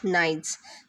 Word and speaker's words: knights: silent words like knights here the k is silent we only pronounce it as knights then gnomes g-n-o-m-e is